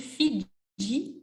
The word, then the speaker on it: Fidji: Voyage, voyage dans tout le royaume, sur les dunes du Sahara, des îles Fidji au Fujiyama. And look here, we need a little D in French to hear the J, whereas in English, we